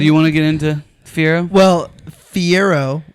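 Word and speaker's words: Fiyero: Now, do you want to get into Fiero? Well, Fiero, which is spelled with a Y, by the way. Fiero. Not Fiero. Fiero.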